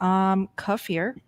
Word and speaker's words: kefir: Kefir. Okay. This doesn't really help. It's definitely kefir. Kefir. Emphasis on the kefir. Thanks, Jerry. Yeah. Now there was this one. Yeah. Kefir.